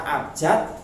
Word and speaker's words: abjad: Pengucapannya sama tetapi tulisannya berbeda. Nah, kata bakunya adalah kata abjad yang memakai huruf D, bukan T ya.